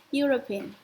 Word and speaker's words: European: European city.